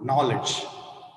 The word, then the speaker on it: knowledge: For example, knowledge. Knowledge spelling Knowledge. You'll have to pronounce as knowledge, whereas K is silent, we should say knowledge.